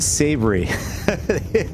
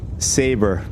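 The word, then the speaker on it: Sabre: In that video I made, I I mis mispronounced uh Saber. I said savory.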